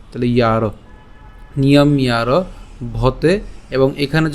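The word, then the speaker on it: নিয়ম্যারভতে: এখন এই যে জফলা আছে, এই জফলার উচ্চারণটা কার মতো হবে? ইয়র মতো হবে। তাহলে ইয়র সাথে আকার এবং হচ্ছে র, তাহলে ইয়ার, নিয়ম ইয়ার ভতে।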